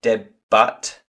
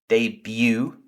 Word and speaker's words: debut: The last word, which comes from French, so we don't pronounce it debut, but we say debut.